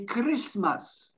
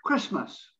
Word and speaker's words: Christmas: people will say christmas i noticed foreigners often will accentuate the letter t and they say christmas no we just have to say christmas the tea is almost non-existent again christmas that's how it's pronounced christmas time and then